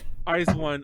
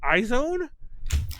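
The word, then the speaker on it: IZ*ONE: Oh yeah, we call iZone iZone here because we talked crap about how stupid their name was years ago when they were.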